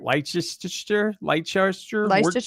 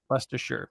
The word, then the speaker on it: Leicestershire: We were calling it Leicestershire, like Worcestershire. Leicestershire.